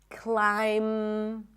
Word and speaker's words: climb: When there is MB, especially at the end of words, the B is not pronounced. So in words like limb, climb, no B, bomb, no